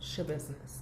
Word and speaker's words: Schabusiness: i saw was like it's spelled s-c-h-a and then business so i was like how the hell do you spell like pronounce that so i had to look it up it's chebusiness taylor d business this